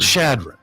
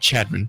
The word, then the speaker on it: Chadron: Shad shadrin yeah shadrin you should pronounce that funny by the way Shad shadron not Chadron not Shad Shad shadron